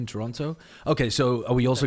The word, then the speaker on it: Toronto: __ ] useless firstly let's stop pronouncing the second t Toronto okay so are we